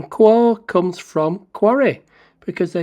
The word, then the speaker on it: Quarr: aby's got to offer qua Abbey is a monastery between the Villages of binstead and fishborn on the aisle of white in Southern England the name is pronounced qu rhyming with four and it belongs to